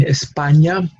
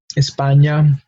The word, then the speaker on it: España: in English uh but once we add that small symbol or accent on top of it we have a different letter now we have Indian I'm have a different pronunciation New York and that's the only pronunciation that this letter has because we see it again in españa Espania here's the flag for